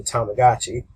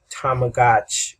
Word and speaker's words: Tamagotchi: And pretty much it would be Tamagotchi, which would be, Tamago watch. They added the I sound later on when they started pronouncing it, to make it a little bit easier.